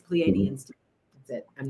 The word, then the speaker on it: Pleiadians: Well, I was saying Pleiadians, because some people do say that, but it's Pleiadians.